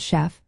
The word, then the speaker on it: chef: For example, the word chef comes from French and is pronounced with a soft sh sound.